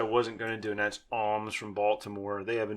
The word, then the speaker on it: Alms: Alms, ALMS.